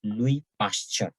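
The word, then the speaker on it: Louis Pasteur: to other person now louis pasture remember this is pronounced as louis pasture yeah very important scientist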